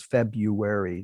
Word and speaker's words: February: least partly at work, in the very colloquial and quite common pronunciation of the second month of the year as February, not February, with the R. The R is there in the writing, and some people say it, but February is much